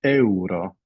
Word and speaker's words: euro: um Euro so it's Euro so not at all like um it's pronounced in English EO so trao for